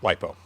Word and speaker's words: LiFePO4: lithium iron phosphate battery you will typically see it written as li lithium f e iron p o phosphate four uh or just pronounced lipo is kind of the way that's usually said so these are